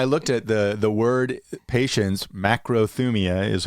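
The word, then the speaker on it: μακροθυμία: Macrothumia is how it's said in Greek, means long suffering, right, or slow to anger.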